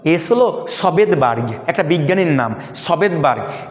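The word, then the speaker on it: Svedberg: এসতে হলো সবেদবার্গ, কি সবেদবার্গ, কেউ কেউ দন্তের উচ্চারণ না করে শুধু ভেদবার্গ বলে।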